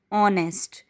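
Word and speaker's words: honest: यस, नेक्स्ट this is ऑनेस्ट. H consonant है बट एच is silent hair. So this is giving the sound of ओ नेस्ट.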